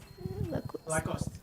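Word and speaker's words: Lacoste: How do you pronounce lo? Lacost.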